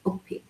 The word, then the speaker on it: opaque: So that's why milk carton or milk bottle is opaque.